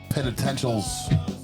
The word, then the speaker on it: Penitentials: The Penitentials.